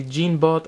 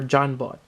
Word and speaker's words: Jean-Bot: And I think there's two ways to pronounce this. Either you can say Jeanbot or Johnbot. I think Johnbot is a lot better, in my opinion. Or it could be another way to pronounce it, so whichever you prefer, but we're talking about Johnbot right now.